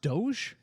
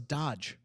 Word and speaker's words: DOGE: that's pretty much all is it pronounced Doge Doge thought it was Dodge no that wouldn't need another D yeah yeah you're missing